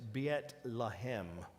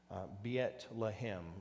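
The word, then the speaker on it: بيت لحم: blue arrows now the bethlehem is biet lahem beyet lahim is what how it would be pronounced in arabic now bethlehem of zebulon and it's mentioned in joshua 91 15.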